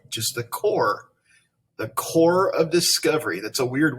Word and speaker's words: Corps: It looks like corpse. That's a good Halloween word, corpse, but it's not. It's that P is silent. And the S is really too. It's called just the core of discovery.